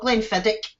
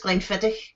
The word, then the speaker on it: Glenfiddich: see it's going feather it's not glymphatic it's Glenfiddich you do realize the